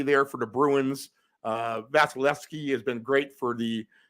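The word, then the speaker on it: Vasilevskiy: uh vasil vasileski and vasileski is go in go vasileski yep he has that extra V in there that you usually do not pronounce that second V right there after the E and the S so try to get that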